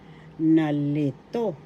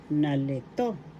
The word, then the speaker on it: nalito: is na na na nalito nalito puzzle in English nalito nalito first syllable na second syllable le third syllable to the accent is in the third syllable in english the next